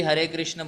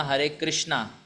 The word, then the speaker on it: हरे कृष्ण: प्रभु जी, हरे कृष्ण बोलें या हरे कृष्णा तो कोई पाप तो नहीं है? देखिए, सही प्रोनाउंसिएशन हरे कृष्ण है। हरे कृष्ण कृष्ण कृष्ण हरे हरे, हरे राम राम राम हरे हरे। तो सही प्रोनाउंस कीजिए।